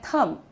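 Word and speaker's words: thumb: इसे हम कहते हैं थंब। राइट? थंब नहीं। थंब नहीं थंब। ठीक है? क्योंकि बी साइलेंट होता है इसमें।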